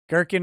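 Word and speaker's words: Gerken: caroline frederickson uh heather gerkin yes kirkin rhymes with merkin nancy gartner yes jack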